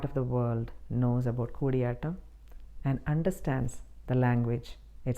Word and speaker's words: Koodiyattam: For example, Koodiyattam is pronounced many times as Kadiyattam, Kootiyattam. It is just Koodiyattam. So, to my Malayali friends, എല്ലാവരും കാണുന്നതിൽ വളരെ സന്തോഷമുണ്ട്. ഇനിയും കാണുക, എന്നെ പ്രോത്സാഹിപ്പിക്കുക. May Koodiyattam flourish and go to